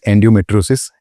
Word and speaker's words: endometriosis: The term is endometriosis, if I'm saying it correctly.